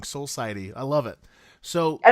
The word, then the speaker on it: Soul Society: Yeah, it's soul society. It's actually one word. Society. It's Oh like my gosh. soul and society, but then Right. all put in one.